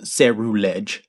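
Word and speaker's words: Ceruledge: It's actually pronounced Cerulege.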